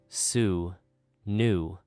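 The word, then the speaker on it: swnw: Ancient Egyptian doctors called Swinnow, pronounced sue new, were famous across the ancient world.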